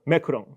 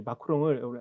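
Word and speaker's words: macron: 하나가 이게 영어 발음 매크롱입니다. 그 다음에 영국식 발음 매크롱 이 정도 하는 것 같은데 저는 그냥 매크롱이라고 하겠습니다. 일본에는 마크롱이라고 합니다. 여러분 이 마크롱을 인터 뭐죠?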